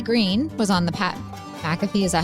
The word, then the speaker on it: McAfee: Riley Green was on the Pat McAfee, is that how you say his name?